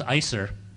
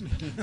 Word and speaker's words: ISER: Just a couple of other things quickly; when I first came to ISER it was ISEGR and then it was ISER (pronounced ICER ) and now under our new director it is ISER (pronounced IZER). So I just want everybody to make sure they understand.